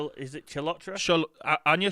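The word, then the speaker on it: Chalotra: discussing uh mallet yeah um i'm going to pronounce butter in here no anya cholotra is it chilotra anya shalotra from the witcher yes um plays jennifer of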